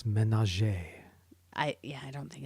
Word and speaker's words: ménage: Ménage.